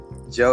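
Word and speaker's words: ジョ: syllable Joe is used Joe as in Jojo so it's Joe the syllable is used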